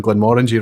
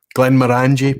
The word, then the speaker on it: Glenmorangie: So Rich was pronouncing Glenmorangie wrong, was he? Glenmorangie, perhaps, or yeah, I must admit, I'm pretty sure I've got it stuck in my head as Glenmorangie.